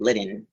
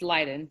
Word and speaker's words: Lydon: Chief Lydon, I'm saying it right. So close. It's Lydon.